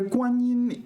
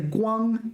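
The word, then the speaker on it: 光: I've encountered this so Guan is I should say Guang I'm not pronouncing it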